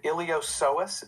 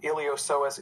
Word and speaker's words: iliopsoas: muscles that help the hip and leg the iliopsoas is how you pronounce that one um iliopsoas is your major hip flexor it's your major